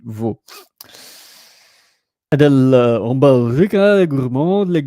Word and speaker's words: Vaud: So Vaud, I think it's pronounced VOUD, Vaud.